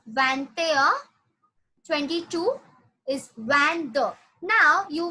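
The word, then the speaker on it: vingt et un: Now 21 is like van, a, van, a. It's pronounced like vante, a. The pronunciation goes like vante, a. Vante, a. "21" is van air, vantair. Yeah, 21 is vantair, 22 is vander.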